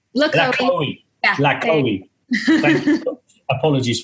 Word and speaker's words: LaCohie: How do you pronounce it? LaCohie. LaCohie.